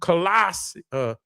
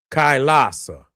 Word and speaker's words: Kailasa: Show me how to pronounce that. Kailasa, Kailasa Temple.